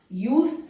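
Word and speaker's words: use: अस, यूज, देखिए ई silent है लेकिन इस ई ने यू के प्रोनाउंसिएशन को लॉन्ग कर दिया, यूज।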